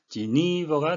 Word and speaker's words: Geneva: 그냥 읽으시면 제네 반대 그렇게 읽지 않고 이 발음과 에이 발음 원래 음가대로 하지 않죠. 지니버가 되겠습니다.